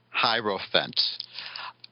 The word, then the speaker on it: Hierophant: Janice says it's pronounced Hierophant. Hierophant.